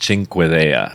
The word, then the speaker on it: Cinquedea: this video is that the weapon's name is pronounced Cinque DEA and we can run